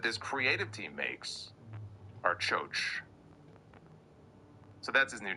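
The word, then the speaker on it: Kyoki: It's spelled K-Y... spelled K-Y-O-K-I, but he pronounced it as Choach. So that's what I'm going to call him until somebody tells me otherwise. His new name is Choach, which I looked it up.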